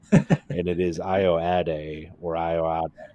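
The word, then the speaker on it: Ayoade: I guess I finally looked up how to pronounce Richard's last name, and it is Ioade or Ioade, Iowatic.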